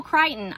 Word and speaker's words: Crichton: Michael Crichton rhymes with Frighten.